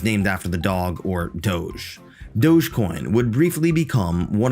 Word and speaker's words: Doge: under the title of Doge with an E at the end, turning the short O sound to a long O sound in English. Doge combined conventional cuteness with the mild trepidation towards the human hand approaching her.